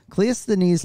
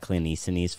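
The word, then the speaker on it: Cleisthenes: no this is bce uh so cleous denise can you spell that clint econese for me c-l-e-i-s-t-h-e-n-e-s kind of a classic ancient greek name um cliousthanes uh came to power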